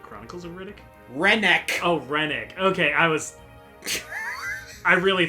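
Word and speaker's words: Rennac: Where's Riddick when you need him? Riddick? Like Chronicles of Riddick? Rennick.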